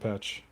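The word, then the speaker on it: Pech: We might be going to Adepticon 2022 with Siege of Patch. Pack. Okay, I think it's supposed to be Pack, but I hate Pack. It's spelled P-E-C-H. It should be Patch.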